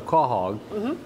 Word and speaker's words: quahog: is a stuffed quahog i asked how to pronounce that and it's a quahog and you can see it's stuffed there and